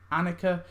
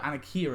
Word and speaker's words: Annika: think i called it anakia at first but that's not how you say it i think it's annika but annika of course